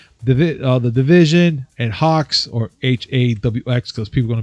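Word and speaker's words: HAWX: that all right cool you you say it you say hawks yeah yeah but i know up here that's how you say it h-a-w-x i want to finally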